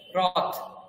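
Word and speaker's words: रथः: Next chariot, রথ, বাংলাতেও বলি রথ, সেটাকে সংস্কৃতে বলবো রথঃ, রথ বিসর্গ, রথঃ, থহ বিসর্গের উচ্চারণটা অহ এমন হচ্ছে এখানে, অকারান্ত এই শব্দগুলো, সেই জন্য রথঃ।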